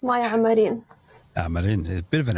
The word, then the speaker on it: Amarin: Am I pronouncing your surname correctly, Maya? Yes, it's Maya Amarin.